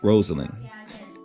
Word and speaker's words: Rosalyn: Rosalyn is probably what I would have said, but she said it's pronounced Rosalyn.